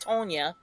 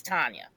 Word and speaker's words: Tanya: Like, you cannot tell me how to pronounce my own goddamn name, and it's not Tonya, it's Tanya. So anyway, long story short, I have an issue with that.